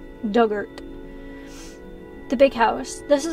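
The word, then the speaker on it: Dugort: on the island pronunciation Doug like the past tense of dig ort rhymes with hurt so duggert yeah okay so not dugert it's duggert the big house this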